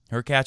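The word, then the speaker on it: Hurkacz: compared to the field her cat rhymes with latch up next for Djokovic might not be easy her catch has got some weapons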